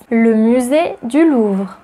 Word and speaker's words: le musée du Louvre: Number 6, le musée du Louvre, also known as le Louvre.